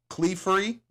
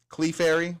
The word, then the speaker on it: Clefairy: Uh, Clefery, Clefairy, however you want to say it.